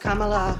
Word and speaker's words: Kamala: It's pronounced Kamala. It rhymes with Kamala.